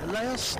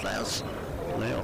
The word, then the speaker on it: Laos: He's had one in from, how do you say it, Laos, L-A-O-S, Laos? Laos, I think.